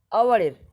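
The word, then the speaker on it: hour: যেমন ধরো dash আওয়ার, এখন দেখো এখানে শুরু হচ্ছে এইচ দিয়ে, এইচটা কিন্তু কনসোনেন্ট আওয়ারের, কিন্তু এখন উচ্চারণ করছে আওয়ার, আওয়ার, ও উচ্চারণ হচ্ছে আওয়ার, ও, ঠিক আছে, এরা কি বসবে?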